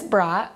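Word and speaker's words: Bradt: media what's your name and how do you spell it my name is miss brat and it is b-r-a-d-t what is your job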